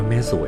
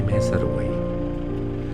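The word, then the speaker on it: แม่สรวย: ของ เขื่อน แม่ สวย เขา อ่าน ว่า แม่ สวย นะ คุณ ไม่ ใช่ แม่ สรวย ซึ่ง ชื่อ แม่ สวย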